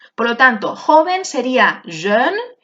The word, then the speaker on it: jeune: Por lo tanto, joven sería jeune, E francesa, boca de O, pronunciando una E, y amarillo sería jaune, con una O.